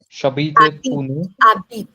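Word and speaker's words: j'habite: and J habit shabit h is silent again.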